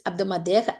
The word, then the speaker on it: hebdomadaire: It's not habdo. Okay, please be careful. It's hebdomadaire. H is silent.